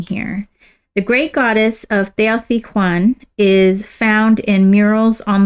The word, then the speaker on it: Teotihuacan: The aim of Teotihuacan, it's Teotihuacan. Sorry, I was pronouncing that wrong.